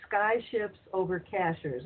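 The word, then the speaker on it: Cashiers: It's Sky Ships Over Cashers, and cashers is spelled just like a cashier at a store.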